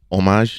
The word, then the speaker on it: hommage: I need you to say it in French because that's a French word. What? Homage? There we go. That's how you say it for real.